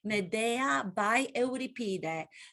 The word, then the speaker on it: Medea: be medea by euripides as the americans like to pronounce it medea the ancient greek play